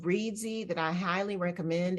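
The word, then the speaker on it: Reedsy: there are different um sites one is called readsy that I highly recommend it's spelled r-e-e-d-s-y and it has vetted professionals from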